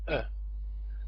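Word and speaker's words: -en: plural suffix for nouns it's pronounced like uh the N is usually but not always mute of course it would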